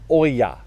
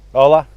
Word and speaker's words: olla: pronounce this other thing it's actually pronounced I believe Oya like oi after the English Cockney oi gum over here oi and yeah after the wire Swedish Backpacker says yes in English yeah so Oya Oya anyway I'm probably going